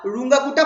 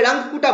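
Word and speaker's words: Runge-Kutta: আর রুঙ্গাকুটা four method. ঠিক আছে, এটাকে আমরা অনেকে রাঙ্গকুটা বলে, কিন্তু আমি এতে দেখেছিলাম যে একটা ইন্টারনেটে একটা জায়গায় দেখেছিলাম যে রুঙ্গাকুটা নাকি অ্যাকচুয়াল প্রোনাউন্সিয়েশন।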